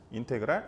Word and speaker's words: 인테그랄: 요렇게 써요 인테그랄 FX 요거는 어떻게 읽냐면 인테그랄이라고 읽어요 인테그랄 FX DX dx는 이제요